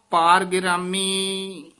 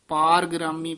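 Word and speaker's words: ਪਾਰਗਿਰਾਮੀ: लून पाहन नाव ना पार गिरामी पार गिरामी पाठ उच्चारण करना पार ग्रामी नहीं कहना पार गिरामी गुर मिल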